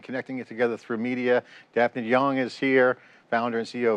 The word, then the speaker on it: Daphne de Jong: it together through media dfan young is here founder and CEO of Ven dfy great to see you did I get that right y you got it right okay all right pronunciation